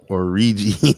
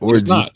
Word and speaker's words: Orji: Or Orji, not Orgy.